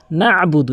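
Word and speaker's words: نَعْبُدُ: উচ্চারণ করতে হবে ইয়াকা নাবুদু এরক নাবুদু বলেন নাবুদ নুন জবর না বা পেশু নাবুদ আইনের উচ্চারণটি বাদ দিয়ে ফেলে এখানে আইনের উচ্চারণ হলকের মাঝখান থেকে নাবুদু এখানে অধিকাংশকাদের উচ্চারণ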